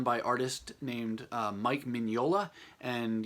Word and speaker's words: Mignola: named Mike Mignola, and yes, that is how you say his last name. I say that because in my mind all these years I've been thinking his last name, or I've just been pronouncing it at least, as Mignola, which is totally wrong.